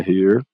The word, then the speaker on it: hear: Então o verbo é hear, que tem o som de E aqui.